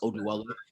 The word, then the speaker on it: Oduwele: I want to be that person that can help my family, and my last name, which it's actually pronounced Oduwele.